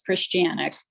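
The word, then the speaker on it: Chrzescijanek: Me, Christianic. Not so bad. Could you spell it?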